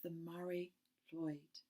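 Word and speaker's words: Mari Lwyd: see some pictures of the Mary Lloyd. I'm not very good at Welsh at all, but it's spelt Marylwyd.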